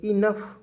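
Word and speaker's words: enough: से न लिखेंगे और ओ यजी एच है तो दोस्तों इसे फ लिखेंगे इनफ समझ रहे जी इनफ मीस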